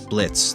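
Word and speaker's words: Blitzø: boss u2s they have blitzo they have stus they have or Blitz the O is silent I'm sorry please don't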